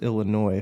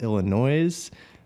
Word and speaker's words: Illinois: and it's it's pronounced Illinois free folks out here in California who call it Illinois's that's not do that people do that yeah that's rough I'm surprised the S is silent and you know there's